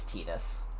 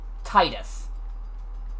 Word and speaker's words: Tidus: Everyone will say, it's Tidus, it's Tidus, it's Tidus. You wanna know what his name has only ever been pronounced as in the fucking games? Titus. Titus, I think, makes more sense. Like, they pronounce it in Kingdom Hearts, they pronounce it that way in fucking Dissidia. It's Titus.